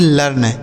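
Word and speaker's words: learn: यहां इ ए है ना तो इसका उच्चारण हमें आ करना होता है। मतलब इसे पढ़ा नहीं जाएगा। ऐसे रहने देंगे। आर से हो जाता है र और एन से न। इसे पढ़ेंगे लर्न।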